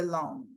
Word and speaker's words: loan: The borrower covenants to maintain insurance coverage throughout the term of the loan. The loan, gente, prestar atenção nessa pronúncia, L-O-N só, esquece o A na hora de pronunciar. Loan, loan.